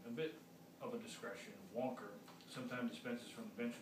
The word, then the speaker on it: Wanker: I'm the new 5th District Judge, answered Wanker, pronounced Wonker, so it's Wonker, W-A-N-K-E-R, it's Wonker, so it's Judge Wonker.